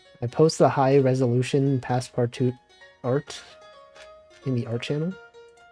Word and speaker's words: Passepartout: I guess the last T at the end is probably silent. It's probably Passepartout, right?